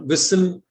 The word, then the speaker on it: whistle: T is also silent when it is part of STLE, as in castle, hustle, whistle.